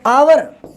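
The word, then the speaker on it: hour: आवर, आवर में क्या, H silent है, एन आवर।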